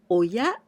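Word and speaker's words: 親: to believe in myself this Ki we pronounce Oya and this means parent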